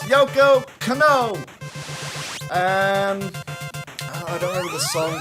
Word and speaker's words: Yoko Kanno: Steve Harvey even mispronounces her name. It's Yoko Kanno.